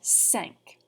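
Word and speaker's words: cinq: all right good job number five sounds like the word sank like you sank my battleship try it for me sank from the top zero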